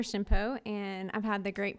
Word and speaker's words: Shimpo: was an age that's the H is silent hello my name is Shimpo and I've had the